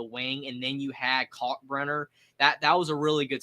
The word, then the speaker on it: Kalkbrenner: Is that pronounced it? Ryan Kalkbrenner? Yeah, he's back at Creighton. Yeah. He's back. I actually wasn't 100% sure who you were talking about, but I got it. Kalkbrenner.